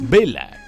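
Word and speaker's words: Bela: De hecho, el nombre de Bella se pronuncia como el del actor Béla Lugosi, que interpretó a Drácula en las pelis de Universal Studios.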